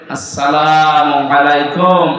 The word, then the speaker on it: আসসালামু আলাইকুম: সাথে প্রবেশ করেন এ শব্দটাকে যারা এখনো পর্যন্ত উচ্চারণ শেখেননি তাদের কপাল নষ্ট হয় না আজকে থেকে ঠিক করে নেবে আসসালামু আলাইকুম আদম থেকে শুরু করে আমাদের নবী পর্যন্ত প্রত্যেকের